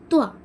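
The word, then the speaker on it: ط: താ അല്ല ഇത് ഇതെന്താണ് ത്വ ത്വത ത എന്ന് എന്ത് ചെയ്യാൻ പാടില്ല നമ്മള് പറയാൻ പാടില്ല ട്ടോ ത്വ ത്വ ത്വ ഷ് ഷ് ഷ് അല്ലേ ഷ് ത് ഇതാണ് ത ഈ തയും ഈ ത്വയും തമ്മിൽ ഉച്ചാരണത്തിൽ ഒരുപാട് വ്യത്യാസംഉണ്ട്ട്ടോ ത്വഷ്ത്ത് അപ്പോ നമ്മൾ ബാക്കി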